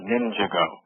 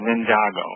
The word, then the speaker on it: Ninjago: was all about it's called pronounced ninjago so or i'm sorry ninjago and i'll just say it writer my kids i have two boys seven and nine and they always tell me i'm saying it wrong so ninjago and it